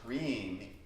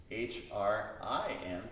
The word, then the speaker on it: Hrim: And the mantra here is Hrim, H-R-I-M. Try saying it. Hrim, Hrim, Hrim. Yeah, it rhymes with clean.